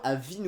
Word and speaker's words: Avinu: l'exception du fait que pour la version espagnole c'est Abinu pour la simple et bonne raison que en espagnol le B et le V se prononcent pareil, donc du coup pour